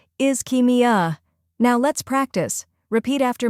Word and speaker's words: ischemia: pronunciation is is Kim first part is like the word is second part key rhymes with key third part me uh smoothly blend me and uh when you put it together it's is keia now let's practice repeat